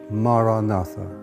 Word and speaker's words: Maranatha: If you choose that word, say it as 4 syllables, Ma-ra-na-tha.